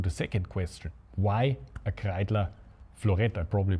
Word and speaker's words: Kreidler Florett: Why a Kreidler Florett? I probably pronounce it German. Well, that's the proper German pronunciation for the Kreidler.